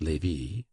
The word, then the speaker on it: Lévis: There were in Madame de T.'s salon some very noble ladies named Mathin, Noé, Lévis, Levis, which was pronounced Lévis, Cambise, Cambis, pronounced Cambise.